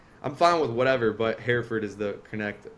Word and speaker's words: Hereford: how to pronounce that I still I still butchered it let's go now you I mean you said it right many people say here forward and it's like I'm fine with whatever but Herford is the connect correct or the way I